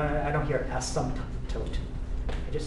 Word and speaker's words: asymptote: Asymptote. That's called an asymptote. Yep. Has a silent P in it. Yeah, it's called an asymptote. At least I think the P is silent. I don't hear asymptote.